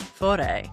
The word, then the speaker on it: Fårö: I am in Ingmar Bergman's Fore. It's spelled like Pharaoh.